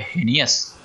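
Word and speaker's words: heinous: अगला वर्ड है हीनियस। हीनियस कैसे आपको उच्चारण करना है, हे न्यू एस, हेनियस।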